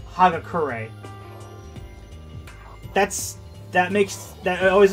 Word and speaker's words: Hagakure: dub for this guy in particular because they mispronounced his last name i'm yasuhiro hagakure hero for short take it easy yeah i know i will his last name is actually pronounced hagakure that's that makes that always annoys me whenever